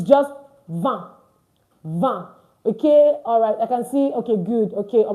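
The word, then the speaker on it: vingt: see it and then 20 is pronounced va don't forget it's not vint why we said earlier when we're doing number five that i in French is pronounced as a a so 20 is not vit 20 is what va va V.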